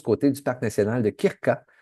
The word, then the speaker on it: Krka: Donc, je recommande toujours d'aller faire un tour du côté du parc national de Krka, K R K A.